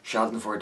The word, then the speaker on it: Schadenfreude: our irregularly scheduled broadcast Shelton Ford is a German word and as such it's one of the very few words I know I am pronouncing correctly it refers to the